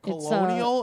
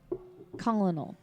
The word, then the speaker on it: colonel: Colonial? Is that the word you were trying to pronounce? Colonel. COLONEL. Colonel. Colonel? That's Colonel? There's no R.